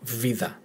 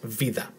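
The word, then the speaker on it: βίδα: So we have vida, vida. Pronunciation again in the first syllable, vida. Again, if the tone was in the second syllable, it will be vida. But this one is on the first syllable, so it's vida.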